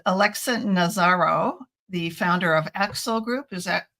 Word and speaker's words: Aaxel: conference preview with Alexa nazaro the founder of Axel group is that pronounced correctly yeah the Axel author group Axel author group um and you